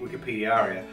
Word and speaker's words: WikipediAria: name is Jason and that is how you say Wikipedi area cuz it's my word and that's how I say we say it from now on um so I'm